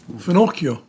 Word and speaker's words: finocchio: Finocchio.